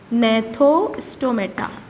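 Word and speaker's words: Gnathostomata: तो पहला अपने एगेनथा, ठीक है, और दूसरा है अपने पास जी है, ये ना बच्चों जी साइलेंट होता है इसमें, नैथोस्टोमेटा, ठीक है ना।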